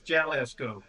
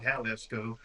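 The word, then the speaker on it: Jalisco: That's Jalesco. It's not Halesco. Just ask Demetri. Yeah. Yeah. They would never they would never pronounce a J as an H.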